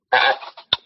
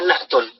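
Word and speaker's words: نعت: Na'at. Ya, sering kita bacanya na'at. Ya, asalnya na'tun.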